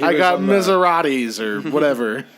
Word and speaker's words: Maserati: No, but he I was got on the- Maseratis or whatever. Maseratis. Maserati. No, that's how they say it in Italy.